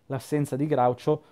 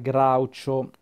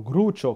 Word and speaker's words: Groucho: serie tv per esempio potrebbero chiamarlo gruccio come molti di voi che non sanno pronunciare l'inglese chiamano il personaggio potrebbero scriverlo con le due o e pronunciarlo in inglese incrocio con le due o in inglese ed cruccio come appunto la metà dei lettori di dylan dog ha sempre pronunciato il nome del personaggio con alla francese si